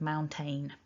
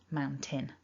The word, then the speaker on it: mountain: When you write it, T-A-I-N, it looks like it should be tain. And I've heard so many people say the word mountain instead of mountain.